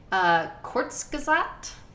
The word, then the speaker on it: Kurzgesagt: And this is, I'm trying to remember how to pronounce it. It's a German word. Kurzgesagt.